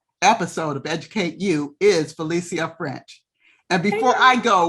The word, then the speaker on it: Phylicia: of Educate You is Phylicia French. And before I go one step further, I will let everybody know that I am pronouncing her name in the Spanish way.